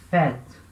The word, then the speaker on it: fête: E aí vai indicar o som de E, como por exemplo, a palavra fête.